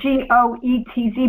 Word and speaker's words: Goetz: It's spelled G-O-E-T-Z, but you pronounce it Goetz.